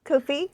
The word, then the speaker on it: Ko-fi: No, Ko-fi, because it rhymes with low fee.